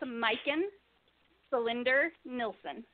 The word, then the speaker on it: Majken Selinder Nilsson: It's Majken Selinder Nilsson. Yeah, see, I would have butchered that to no end, and I don't like butchering names if I don't have to.